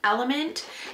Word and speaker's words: LMNT: So I have been using almost daily my LMNT, which is pronounced element.